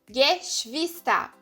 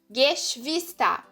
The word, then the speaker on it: Geschwister: Então, aqui nessa palavra fica como Geschwister. Geschwister. Porque o G tem esse som de G. É como se você falasse com GU, né? No português.